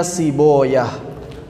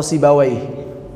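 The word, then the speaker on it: سيبويه: Beda baca aja, ada yang baca si Bawai, wawnya difathahkan, ada yang baca si Boyah. Tulisannya sama, sin ba waw ya ha. Cara bacanya beda, si Bawai dan si Boyah.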